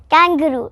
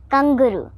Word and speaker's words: kangaroo: Kangaroo. Wrong pronunciation, kangaroo.